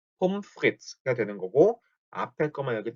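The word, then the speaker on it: Pommes frites: 포메스 프리테스라고 되어 있네요. 포메스 프리테스. 자, 이걸 정확하게 읽으면 폼프리츠라고 씁니다. 폼프리츠. 포메스라고 써있는데 뒤에 발음 전혀 안 나고 폼프리츠. ES라고 써있죠? ES도 그냥 S. 폼프리츠 이렇게 발음이 됩니다.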